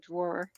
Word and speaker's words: drawer: in the wrong things a drawer it's a draw no there's two syllables to the word drawer no it's a draw